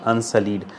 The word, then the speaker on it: unsullied: Pronunciation unsullied. Now sul sounds like soil.